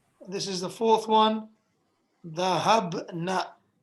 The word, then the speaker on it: ذهبنا: Be sure to pronounce this in this way. Very short noon. Because if you say ذهبنا, that changes the meaning as you will learn later on. You say ذهبنا, keep it very short.